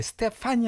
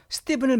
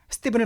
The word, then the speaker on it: Stephen: 이건 스티븐이라고 발음해 스테판이 아니라 스티븐입니다. 자, 우리 meet Stephen 명령문이죠. 스티븐을 만나세요 그 뜻이에요. 스티븐을 만나라.